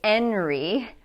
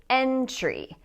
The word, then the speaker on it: entry: R for that reason we cannot say enry we have to say entry so in this word the t is pronounced as a t okay let's look at